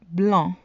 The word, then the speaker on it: blanc: Blanc. Blanc. The C is silent in the masculine form.